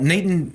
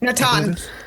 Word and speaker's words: Natan: Nathan I'm pronouncing his name right? Nathan. Is it Natan?